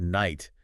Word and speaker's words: knight: I still remember the first time I saw the word night. Yeah. I was like, wait, where did that K come from?